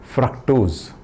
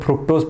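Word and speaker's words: fructose: फ्रक्टोज, कुछ लोग फ्रुक्टोज पढ़ते हैं, फ्रुक्टोज, क्योंकि उसका स्पेलिंग वैसे होता है, फ्रुक्टोज बोलते हैं कुछ, वो क्या है, फ्रक्टोज, ओके।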